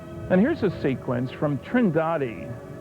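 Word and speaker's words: Trindade: of the picture and here's a sequence from trindad trendi I'm told it's pronounced 600 mil east of the coast of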